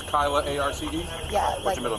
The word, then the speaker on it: Kyla Arce: Spell it. K-Y-L-A-A-R-C-E.